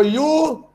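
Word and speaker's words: ewe: So you is a female sheep, and it starts with a consonant sound.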